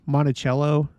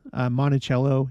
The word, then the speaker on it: Monticello: That would be in Monticello. I think that's how it's pronounced. Monticello, Utah. There's a temple there.